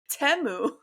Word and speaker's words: Temu: the funny part is everyone's pronouncing it wrong it's temu it's not teu oh yeah I don't